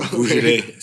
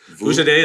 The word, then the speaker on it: Vujaday: Vujade. How do you spell that? Vujaday, it's VUJADAY.